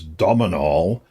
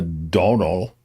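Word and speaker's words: Domhnall: And his name is spelled D-O-M-N. I thought it was H-A-L. Maybe it's just A-L. So someone said, why do you spell it that way? He said, to confuse Americans to thinking that my name is Dominal. Dominal Gleason, But it's just Donal. And it just holds an O sound.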